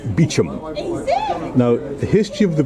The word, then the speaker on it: Beauchamp: Now I'm just going to read this plaque which um gives a summary of the fortunes of the house of Bochamp pronounced Bichum.